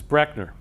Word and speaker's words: Brechner: of the name so my last name is actually mispronounced by almost everybody that's the way it's actually pronounced is Brechner so if you take